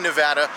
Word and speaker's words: Nevada: couple other locations in Nevada I will be saying Nevada because that's the way the locals say it nowadays well in